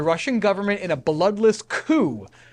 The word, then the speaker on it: coup: government in a bloodless coup c-o-u-p is pronounced coup in this context it's a French word for overthrow so the Communists did